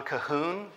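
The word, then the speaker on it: Colquhoun: a book by John Cahoon his last name is spelled like Kol Cahoon but the title is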